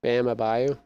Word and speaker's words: Bam Adebayo: Bam Adebayo.